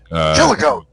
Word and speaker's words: Chillicothe: Chillicothe. I think that's how you say that. I'm from Ohio, and I don't even know how to pronounce that fucking thing. Chillicothe.